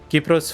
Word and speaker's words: Kypros: Kypros, for those who don't know, is basically Cyprus, but it's how you say it in Greek.